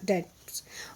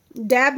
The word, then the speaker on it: debts: देखिए DEBTS है, इसमें बी साइलेंट रहता है बेटा, इसलिए इसको डेट्स बोलेंगे। क्या बोलेंगे? डेट्स बोलेंगे, है ना, डैब नहीं बोलेंगे, डेट्स बोलेंगे।